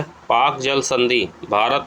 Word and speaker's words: Palk: तो पाक जल संधि श्रीलंका से अलग करती है। आपने देखा होगा ये पाक पाकिस्तान से संबंधित नहीं है। पाक की इसमें स्पेलिंग होती है PALK, ठीक है, पाक स्ट्रेट जिसे कहते हैं।